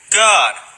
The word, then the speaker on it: Gad: God. The same way it's pronounced in Enoch, with that little vowel point above the A.